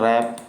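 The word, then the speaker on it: wrap: इसमें भी W आपका क्या रहता है? साइलेंट रहता है, W को नहीं बोला जाता है। रैप नहीं पढ़ा जाता है, उसको रैप पढ़ा जाता है।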